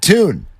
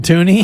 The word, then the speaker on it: Tune: It's just Tune, I think. Yeah. It's Correct. Clayton Tune. Clayton Tune will he doesn't pronounce it Tooney?